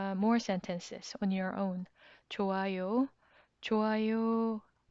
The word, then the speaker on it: 좋아요: 좋아요, 좋아요. Again, here it is silent.